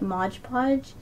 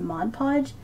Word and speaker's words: Mod Podge: growing up I called it modge podge and from a few comments that I've received I realized that even though I know that it's a mod podge sometimes just because I have it I say it wrong and that's irritating to a few people so I'm really trying to say it right now so I didn't